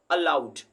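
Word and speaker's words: aloud: Saying words अलाउड। ठीक है, बहुत लोग इसको अलाउड कहते हैं, जिसको इसको अलाउड नहीं कहता, अलाउड, अलाउड, अलाउड।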